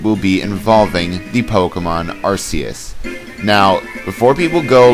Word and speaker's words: Arceus: And also, the reason why I know it's Arceus is because its Japanese name is Arceus, and it's spelled R-U-S-E-U-S, so... yeah, it's Arceus.